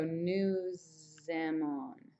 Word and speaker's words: nous aimons: And since all of these, these end in S's and these all begin with vowels, you have the liaison kind of sound where you go nous aimons.